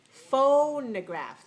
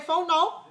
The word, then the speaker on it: phonograph: you're pronouncing it differently watch me phonograph the second syllable when i pronounce it clear or unclear unclear so it cannot be stressed unclear it must be unstressed must be weak so don't say a phone no okay it's not phone no crap vol no crap